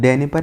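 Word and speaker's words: Dnieper: पे गिर रही है नीपर नदी। जो डेनिपर नदी है वही नीपर हम पढ़ते हैं, इसमें वो साइलेंट रहता है, तो डेनिपर हम कभी कभी पढ़ते हैं।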